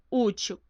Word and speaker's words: útil: Porque a sílaba tônica está na penúltima sílaba e ela termina com a letra L.